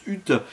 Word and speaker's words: Huth: réalisé par James H hot vous prononcer comme vous voulez certains disent James Hut mais il est d'origine anglaise le monsieur et il avait fait